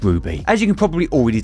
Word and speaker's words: RWBY: believe is RWBY but it's pronounced as Ruby as you can probably